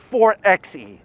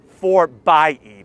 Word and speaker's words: 4xe: four by eight and it's not for xe it's not some weird triple x thing for by e that's how they say it and jeep speak now